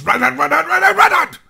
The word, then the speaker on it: Reinhardt: That's not how you say it! It's Reinhardt! That's how you say it! With passion and love!